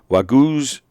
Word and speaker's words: Wagyu: It's pronounced Wagyu. Yeah.